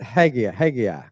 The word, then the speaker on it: Haggai: I pronounce it Haggai.